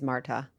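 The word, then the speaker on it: Märtha: Is it Marta or Martha? I think it's Marta. I think it depends on if you're Norwegian or not, how you say it.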